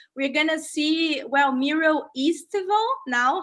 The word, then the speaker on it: estival: So we're gonna see, well, Mural Estival now.